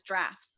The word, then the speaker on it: Droughts: Droughts is pronounced as drafts.